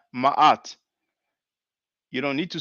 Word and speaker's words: Ma'at: So Ma'at, you see. But if it's difficult, and that could be understandable, if you cannot pronounce Ma'at, then just say Ma'at, like a elongated A sound. But Mayat, there's no Y, it doesn't sound good.